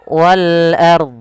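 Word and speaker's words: والأرض: Pada lafal wal ard di sini ada alif lam, yaitu alif lam qamariyah, alif lam yang kita tuliskan dan kita baca dengan jelas suara lamnya. Ro-nya di sini ada ro tafkhim, harus dibaca dengan tebal. Kemudian dot, jangan lupa untuk dia dibaca juga.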